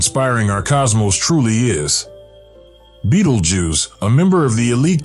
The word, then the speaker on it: Betelgeuse: our lowly planet Earth Beetle Jews has surpassed the confines of Science and reached the Realms of popular culture in addition to its astronomical significance its name pronounced Beetle Juice derives from the old